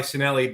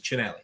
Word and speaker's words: Cinelli: My name is, we go by Cinelli, but correct pronunciation is Cinelli.